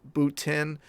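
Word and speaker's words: Bottin: of the dead or Rob button pronounced boot in from the thing and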